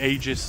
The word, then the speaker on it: Aegis: We can go and get Eegis caller for um for likes to play catch. And yes, that is how you pronounce it. I think you say Aegis as well.